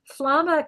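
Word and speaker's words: flammā: And the flamma confused me at first until I realized that's a long a at the end. It's an ablative.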